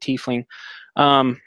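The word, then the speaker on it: tiefling: in teeth wings or tie flings whoever you want to pronounce it all just pronounce it teeth lean in Mystica you know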